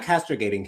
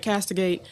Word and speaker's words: castigate: We're not castrogating him. We're just pointing out what he said. I got the pronunciation right. Castigate.